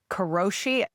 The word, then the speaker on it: karoshi: The word that the Japanese use is called I don't know how you pronounce it, but I think it's kroshi.